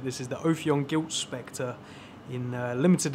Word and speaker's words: Ophion: of this little section so ophion I believe is how you pronounce it this is the ofyon guilt Specter in a